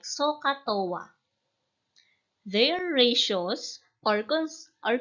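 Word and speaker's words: SOH CAH TOA: are the sign cosine and tangent it is pronounced a bit like sohcahtoa their ratios or cons are constant because the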